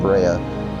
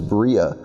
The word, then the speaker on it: Brea: first heard about it I didn't even know that you pronounced it Brea I thought maybe it was Bria but the more I